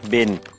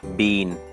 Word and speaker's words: been: have แล้ว อัน นี้ อเมริกัน ออก เสียง ว่า Bin ชาว อังกฤษ ออก เสียง ว่า Bean ได้ ทั้ง คู่ นะ ครับ อัน นี้ th